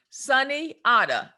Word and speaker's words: Sunyata: heard from a doctor sunyata amen somebody asked me again to spell that so think of it this way sunny otter sunny s-u-n-y-a amen like amen a-m-e-n